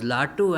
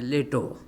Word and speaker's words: Latu: Now this Adbhutananda, Swami Vivekananda used to call him Plato, because his pre-monastic name was Latu and used to get pronounced many times as Leto. So Swami Vivekananda converted into